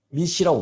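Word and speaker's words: MECE: 바로 중복과 누락, 착오가 없도록 하는 소위 말한 미시라고 불러요. 미시. 영어로 이거 미시라고 읽죠. 미시.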